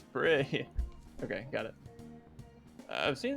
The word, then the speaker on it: Prix: Oh yeah, because Yosuke was like, I think it's Prix.